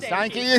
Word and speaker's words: Stanke: I almost said Stanke.